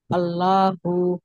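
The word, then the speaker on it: الله: আল্লাহু মাশাল্লাহ সুন্দর হয়েছে তাহলে আল্লাহ শব্দ এভাবে মোটা করে পড়তে হয় যদি আল্লাহর শব্দ ডানে জবর অথবা পেশ থাকে তাহলে মোটা করতে হবে আল্লাহু আল্লাহু রাসুলুল্লাহি ল ল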